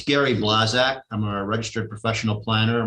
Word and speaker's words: Blazak: It's Gary Blazak. I'm a registered professional planner. My name is spelled B-L-A-Z-A-K.